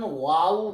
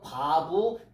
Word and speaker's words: 바브: 요거를 독일 사람들은 와우 계속법이라고 읽고 히브리 발음으로는 바브 계속법이라고 읽는 거예요.